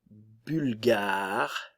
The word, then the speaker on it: bulgare: le son u français u u la Bulgarie bulgare bulgare ok le son u vous avez remarqué